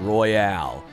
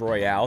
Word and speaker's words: Royal: i have i've been i've been pronouncing persona 5 royal as persona 5 royale since it came out or since they announced it and and every all my friends made fun of me but then phil spencer